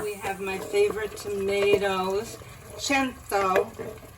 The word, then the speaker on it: Cento: We have my favorite tomatoes, CENTO, as they say in Italian, for 100. But what most Americans say is CENTO.